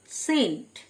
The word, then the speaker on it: scent: কিছু শব্দ আছে যাদের সি লেটারটি অনুচ্চারিত থাকে, যেমন সেন্ট, SCENT, সেন্ট, সি সাইলেন্ট মানে আতর।